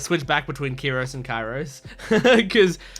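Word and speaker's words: Kyros: Kiros and kyos cuz for me the name looks like it's pronounced chyros and chyros kind of sounds more natural for the way that it's written but the the characters call him kyos so I'm going to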